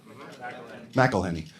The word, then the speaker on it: McElhenney: Abbott Elementary and Rob McElhenney and is that how you say his name? McElhenney? Is that right? McElhenney.